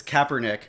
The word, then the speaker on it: Kaepernick: At, How do you at pronounce first, it? I thought you said Copernicus. Kaepernick? It's Kaepernick.